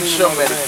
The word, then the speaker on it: Semitic: Anti-Semitic. Okay. Anti-Shemitic. They don't even say it right. It's really Shemitic.